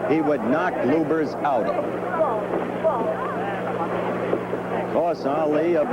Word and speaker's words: Lubbers: Indonesia muhammad Ali against Rudy Lovers or Lubers it's pronounced both ways lubers is probably more technically correct anyway it's the way Rudy wants it said see how Lubers keeps